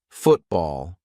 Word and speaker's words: football: For example, football. I'm not saying football. Let's play football.